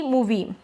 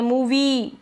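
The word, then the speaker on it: movie: जैसे cookie मूवी cookie ऐसे नहीं बोल रहे मूवी लंबा नहीं बोल रहे हैं।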